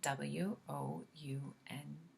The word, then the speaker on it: wound: Wound is spelled W-O-U-N-D. In English, that also means wound, so you can pronounce it both ways with the same spelling.